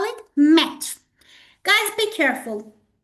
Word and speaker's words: maître: We call it maître. Guys, be careful. The words that we are using are French words, so be careful about their correct pronunciation.